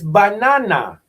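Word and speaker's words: בננה: Do you know how to say banana in Hebrew? It's banana. Literally, in Hebrew, banana is banana, because we've been calling Hebrew this whole time.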